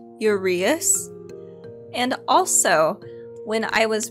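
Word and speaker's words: uraeus: to make a few corrections so i said urayus for when we were talking about the eye of ra it is actually pronounced urease and also when i was referring to the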